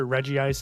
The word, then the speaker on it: Regice: I will pronounce it Reggie Ice, and I am correct.